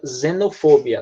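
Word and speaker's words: xenophobia: a gente tem esse xenofobia que inglês pronuncia fazendo fobia não tá embora começa com um x a pronúncia como se fosse usei tá dizendo fogo que quer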